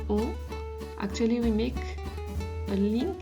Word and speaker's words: on: But just as a precision again, normally we wouldn't pronounce the N at the end of on.